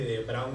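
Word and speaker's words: de Bruijn: Segunda Guerra Mundial y no se dice Bruging graph, se dice de brown graph porque es la palabra en holandés y consiste en que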